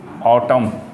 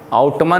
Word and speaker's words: autumn: ओड ठीक है टू ऑटम यहां पे एन जो है वो साइलेंट है ठीक है आउट मन नहीं बोलने का नहीं तो बेइज्जती हो